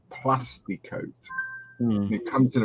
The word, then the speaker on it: Kote: It's made by a company called Plastic Kote.